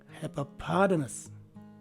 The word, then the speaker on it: hippopotamus: The letter T is pronounced as a letter D, as in delta, and both letters A and U take the schwa sounding letter E. So this word is pronounced as hippopotamus.